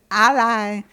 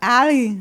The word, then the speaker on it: a11y: 3 is ally as in alliance. And 4 is alley like bowling alley.